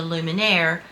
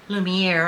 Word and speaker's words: Lumière: the original origin or The lumire Lumiere I think is how you say it um it is